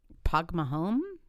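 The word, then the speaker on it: Póg mo thóin: Okay, this is what my boss taught me, but I forgot how to pronounce it, so I had to look it up. Pogmahome?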